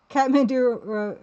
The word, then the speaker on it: Kathmandu: Kathmandu rhymes with tiramisu.